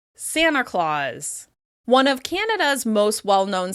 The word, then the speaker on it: Santa Claus: When we're talking about the Christmas elf Santa Claus, it's common to say "Sanna Claus, Sanna Claus."